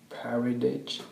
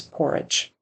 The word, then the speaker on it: porridge: stressed she felt stressed she ate a bow of parage she had a bowl of porridge so he couldn't quite decode the spelling of that word um so it's porridge check checked herself in